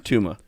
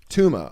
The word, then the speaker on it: Touma: yep luk how do you say your last name Tuma Tuma oh okay cuz I always cuz it's is it tou or tuo t okay I did tuo for the long time I thought your well